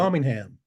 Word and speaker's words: Birmingham: Birmingham.